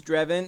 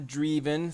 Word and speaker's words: Drevin: For those who may not know, yes, that is Drevin, as in heaven. It's not Dreven, so I know a lot of you people think it's Dreven. It's not how you pronounce it.